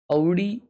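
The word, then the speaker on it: Audi: औडी sound सस, हाँ ना भाई, औडी बहुत अजीब लगता है। ऑडी ये है रियल प्रोनाउंसिएशन भाई।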